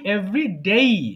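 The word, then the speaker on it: everyday: উচ্চারণটা হবে কি? এভ্রিডে। আবার বলতো এভরিডে।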